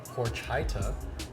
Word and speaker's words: horchata: The Horchata. Come on, creativity. I think we should go with Horchata. Horchata. Horchata. Or it should be Horchata. Yes, you gotta say it right. It's horchata. Horchata.